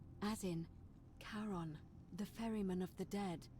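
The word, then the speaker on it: Charon: is a little off the name you heard wasn't Karen it was c h a r o n as in karon the Fairman of the Dead yep karon who in exchange for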